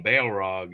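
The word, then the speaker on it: Balrog: time uh and that's that's spelled b a e l r o it's got Bail right in the name Bale Rog and it near it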